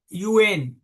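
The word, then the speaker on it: Nguyen: So this author, Joseph Yuen, it's a Vietnamese person, so Angie is silent. The spell is Angie UAN.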